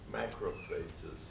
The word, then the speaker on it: macrophage: And the pronunciation of this word varies among people, and the same person may pronounce it one way one time and another way another time. Macrophage, macrophage, same cell. It's just, you know, tomato, tomato type terminology.